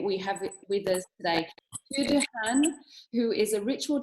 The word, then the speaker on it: Tu: nobody knows how to say it, but it's Tu, and the surname is Dahan.